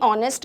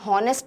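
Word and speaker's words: honest: उनके साउंड में है, तो हम बोलेंगे भाई ऑनेस्ट का एच तो हम बोलते ही नहीं है, हम हॉनेस्ट तो बोलते नहीं है, हम क्या बोलते हैं, ऑनेस्ट।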